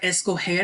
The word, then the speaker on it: escoger: So like G will go to the J sound to keep that soft G sound. It's like we want to keep, like a verb like escoger in this first example, right?